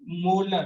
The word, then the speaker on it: molar: बट जब आप pronounce करेंगे बेटा, तो इसको बोलेंगे हम 1 मोलर। क्या बोलेंगे 1 मोलर। प्रोनाउंसिएशन क्या होगा बेटा मोलर, जब यूनिट के साथ लगाएंगे हम। अगर 2m आया तो इसका प्रोनाउंसिएशन क्या होगा बेटा 2 मोलर, क्या आएगा 2 मोलर।